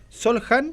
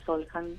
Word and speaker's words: Soljan: A ver, ¿cómo se pronuncia para que ya hacemos escuela? Solhan. Solhan.